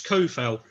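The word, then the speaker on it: Coufal: Well, is it Kufal or Sufal today, Gnome? I've heard both, so I'm equal opportunities. I'm going to pronounce it souffle or something like that. I think, as I said, to Vlad the Impaler. Yeah. Yes. I think never at the EU, it's Kufal. Yeah.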